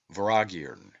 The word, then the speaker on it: Vortigern: of the word mortha the t is silent and M is inflected as is common in the Celtic and is given the sound of V the word is phonetically pronounced vagon and signifies a great